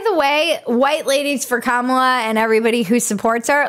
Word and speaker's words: Kamala: her name we did first you say comma like a comma in a sentence then you say la like la la la la la when she